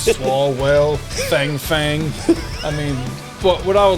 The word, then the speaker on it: Fang Fang: you see us now i've heard this name may be pronounced font font but how can one resist a name like that pronouncing it fang fang i mean it does